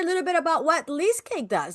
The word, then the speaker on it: Leasecake: Uh it's called Leasecake for a reason. Not only is it cute and kitschy, rhymes with cheesecake, and yes, it's a